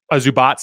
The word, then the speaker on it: Zubac: Here, they're going to actually run through Zubac in the post. Zubats, I should say. I'm trying to learn how to pronounce these guys better.